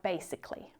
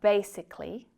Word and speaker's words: basically: are many just like basically. The A is always silent in those endings so when it's spoken naturally it sounds like rather than Listen. You've got basically, logically, politically, automatically, specifically.